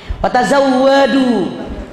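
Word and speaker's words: وَتَزَوَّدُوا: U-nya jangan panjang, walaupun ada waw itu ada kelainan.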